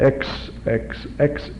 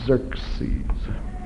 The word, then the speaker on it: Xerxes: about Old Testament history Xerxes not EX x x well you can't pronounce it with an X anyway it's Z Xerxes this is aeras another